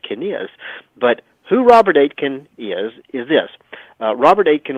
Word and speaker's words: Aitken: but it's spelled a a-i-t-k-e-n pronounced like the number eight and then ken as in your next of kin robert aitken robert aitken is a